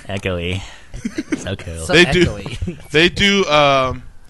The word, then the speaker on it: Echoe: Is there a different pronunciation to that? Echo. Echo. Mr. Echo. Echoy. Like Echoy. Yeah. Echoey.